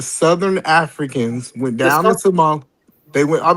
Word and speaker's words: Somali: history, it says the Somalian, especially the northern Somalian. And by the way, it's not Somali. It's Somali. It's Somali. Okay.